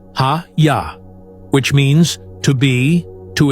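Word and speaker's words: היה: Specifically, it is the Hebrew verb haya, pronounced hayya, which means to be, to exist, to become, to happen.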